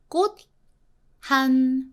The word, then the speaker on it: 꽃: So 꽃 is a t, very strong sound with H. H actually makes the other consonants very strong. Like for example, 꽃 한 송이 become 꽃한 T sound.